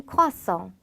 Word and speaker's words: croissant: 자, 크루아상은 un croissant. un croissant. un croissant. 자, 우리나라 말처럼 크루아상이라고 하는 게 아니라 그 에르 발음이 흐 발음이 나기 때문에 크루아상이라는 발음으로 바뀌게 됩니다.